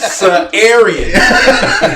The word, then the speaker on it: Sadarian: So your name is Sa'arian. The D is silent in your name, sir.